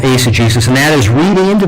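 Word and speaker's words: eisegesis: that's called ACG so I know most people pronounce it isagesis but I've been told by one of the leading scholars in the world that's actually what would have been called Ace of Jesus and that is reading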